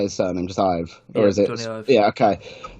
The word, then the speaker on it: Ive: Yeah, well, and I mean, coming back to the design, like this guy here, it is Ive, right? That is how you say his surname, just Ive, or is it?